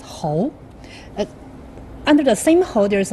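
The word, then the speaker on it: 猴: So monkey in Chinese language pronounced as hou.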